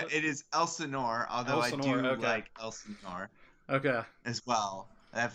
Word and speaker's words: Elsinore: on uh so you guys recently uh launched elsinore is that how you is that how you pronounce it it is elsinore although okay as well i've heard that pronunciation